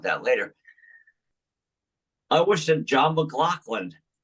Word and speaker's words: John McLaughlin: I think it's John McLaughlin. It is. That's the proper pronunciation.